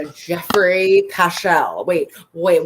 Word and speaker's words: Geoffrey: they're right there right jeffrey pachell wait wait what is the attorney call him joffrey joffrey i was like the dude doesn't even know how to pronounce his client's name like joffrey joffrey joffrey